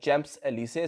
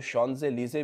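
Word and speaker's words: Champs-Élysées: street है यहां की वैसे तो इसकी प्रोनाउंस प्रोनाउंस एशन जो है चम्स एलीसे है लेकिन वहां पर कुछ लोग इसको शनज लीजे भी कहते हैं बहुत ही खूबसूरत और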